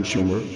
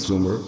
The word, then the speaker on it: Sumer: and their land Sumer except for mispronouncing the name it should have been Schumer not Sumer operate was right Sumer